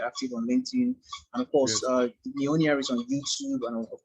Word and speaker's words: Mijolnia: Mijolnia. So the J in fact is silent.